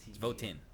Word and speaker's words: Votan: Spell that. VOTAN. Yeah. Votan. Yeah. I thought it was Votan. VOT. It's Votan.